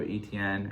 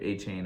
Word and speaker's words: Etienne: They do have Etienne, or A-Chain, I should say. That's how it's pronounced, apparently. Well, I'm not going to confirm. Yeah, if you're in Louisiana, that's how it's pronounced. Outside of Indiana, or Louisiana, you could still say Etienne.